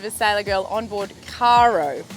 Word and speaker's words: Caro: sailor girl on board Cairo is how we pronounce it for everyone who's been wondering I have with me